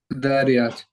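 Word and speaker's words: Adh-Dhariyat: It's Adariyat. I don't know if that's how you say it. It's what? Adariyat. Zariyat? Dariyat.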